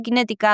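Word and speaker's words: QinetiQ: la industria militar británica, se escribe con Q, las dos, Q-I-N-E-T-I-Q.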